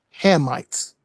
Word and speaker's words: Hamites: The correct way to say it is the the correct way to say it is Hammites.